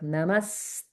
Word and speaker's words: namaste: So when we pronounce it, it becomes like namaste. Namaste. Okay. So I'm exaggerating a little bit so that it's clear, but you can hear the sort of doubling effect on the first sound in the conjunct syllable.